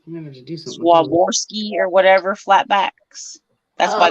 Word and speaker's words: Swarovski: So it's Swarovski.